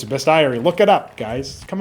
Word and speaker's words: Bestiary: Guys, it doesn't have an e in it or it doesn't have an a in it. It's Bestiary.